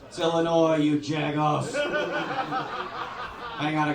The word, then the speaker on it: Illinois: out on you if you pronounce the S at Illinois not Illinois Illinois you jagoff hang on